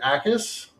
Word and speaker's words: Jacas: Another guy that I'm going to shout out, who again got some love after the Senior Bowl, Gabe Acas. It's spelled Jacas. Good news. The J is silent.